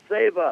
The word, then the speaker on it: Seva: SCVA, but pronounced Seva. Seva, okay.